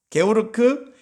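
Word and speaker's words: Georg: 자, 그 오른쪽에 있는 사람은 누구냐면 GF로 된데, 이 사람 독일 사람이기 때문에 조지라고 읽으면 사실은 영어식 발음이고요. 게오르크 프레드리히, 이거 다 프레드릭 이렇게 하면 그 영어식 발음이고요.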